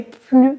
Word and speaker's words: plus: plus grande que celle-là ici grande est un adjectif qui commence par une consonne et c'est une comparaison donc on ne prononce pas le S cette ville est plus grande que celle-là autre exemple avec un